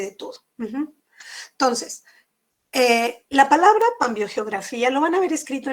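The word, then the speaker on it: Pambiogeografía: el pan mío geografía pero lo correcto es con emi viene del vocablo aunque significa todo vio geografía que es la geografía en la vida pero como gramática española se escribe m antes de ver se acuerdan de sus clases de la primaria entonces lo correcto es decir cambio geografía y que es una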